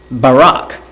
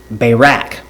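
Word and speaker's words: Barak: supposed to be judge Barack Barack, whichever way you want to pronounce it.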